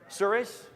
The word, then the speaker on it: Surace: Surace?